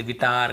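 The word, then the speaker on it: guitar: यदि किसी भी है ना ए इ आई ओ यू के पहले यदि आपको यू मिलता है तो फिर हमें उसे नहीं पढ़ना है। ऐसे पढ़ना है। गाइल, guild, गिल्ट, गिटार, गार्ड, biscuit.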